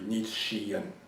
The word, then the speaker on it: Nietzschean: sounds like shell without the hole but the pronunciation of his adjective should be neat Shion okay what can you tell us about his